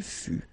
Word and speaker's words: fut: Il fut, final T not pronounced. Elle fut. Okay, so basically you've got only one phonetical form here, and it's fut, fut, fut, the same.